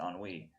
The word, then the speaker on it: ennui: Ennui, excuse me, that's how you pronounce it, ennui.